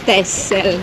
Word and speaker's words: Texel: Si scrive Texel, si legge Texel.